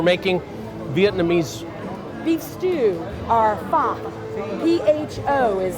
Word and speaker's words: pho: Michelle, we're making Vietnamese beef stew, or pho. P-H-O is how it's spelled.